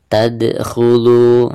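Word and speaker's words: تَدْخُلُ: tadkhulu. Nah, di sini huruf dal ketika sukun maka dihukumi qalqalah, dan cara membacanya yaitu harus ada pantulannya.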